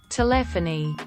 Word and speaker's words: telephony: who works in Telecom telephony hard to write a description on how to pronounce it but the best way to describe it is to say it like you would say telefono for Spanish irregardless of where you're